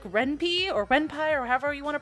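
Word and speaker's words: Ren'Py: So software like RenPy, or however you want to pronounce it, is okay, but it's really confusing to someone who doesn't know coding.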